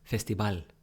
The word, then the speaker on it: festival: a couple more Festival Festival no no no Festival right Festival cuz the V is like a b Festival personal personal personal